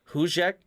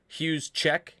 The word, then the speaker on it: Juszczyk: Juszczyk? Is that what you're saying? It's like, it's got to be more of a ch sound. Juszczyk.